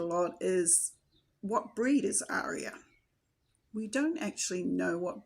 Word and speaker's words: Arya: As you've heard in the video, we pronounce it Arya.